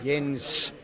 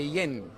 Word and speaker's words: Jens: And in Thai, they can't really say my name, Jens, with an S in the end. They say Yen.